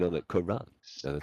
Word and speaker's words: Quran: So it's one of those things like most people think it's Karan, Yeah. which makes me think that maybe that even is the correct pronunciation, but like my family, for at least the generations that I know, all say Karen.